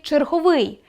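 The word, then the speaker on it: черговий: Наприклад, правильно вимовляти черговúй з наголошеним кінцевим голосним звуком [ú].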